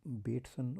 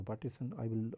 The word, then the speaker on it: Bateson: You can pronounce it as Bateson or Bateson. I'm pronouncing it as Bateson.